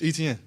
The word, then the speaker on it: Etienne: So I'm like man it's Etienne. Like how you see it is how you say it.